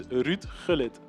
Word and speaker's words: Gullit: Last thing, can you pronounce Hullit's name perfectly just one more time for the broadcast so I can learn as well, because I do say Hullit, please? It's Ruud Gullit.